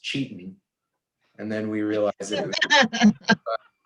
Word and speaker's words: Cetan: of our values um we thought it was pronounced seton we're still saying that it's pronounced seton but we found out after we founded the company and everything that it's actually pronounced cheating and then we realize it that didn't work